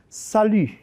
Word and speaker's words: salut: Ahora, ¿qué pasa si yo pronuncio la I con la boca cerrada? Vamos a hacer el ejercicio de pronunciarla con la boca abierta y llevarla hasta casi cerrada. Y el sonido donde me quedé aquí, U, es el sonido de esta letra. Entonces, la palabra es salut.